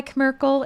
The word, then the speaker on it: Kerkle: I go by Kerkle. It's kind of like Squirtle. It rhymes with Squirtle a little bit.